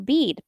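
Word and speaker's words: Bede: let's talk about another man his name is Bead It is spelled be e d he is a monk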